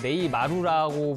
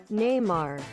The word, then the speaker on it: Neymar: 네이마르가 사실 한국에서 네이마루라고 불리면서 어떻게 보면 브라질 사람들도 지금 네이마루라고 부르고 있더라고요. 그러니까 약간 재밌었나 봐요. 그러니까 원래 브라질식 발음으로 하면 Neymar.